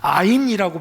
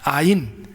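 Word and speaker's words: עין: 여러분 보면은 셈이라는 말이 나오는데, 셈이 히브리어로는 아인이라고 발음해요. 아인.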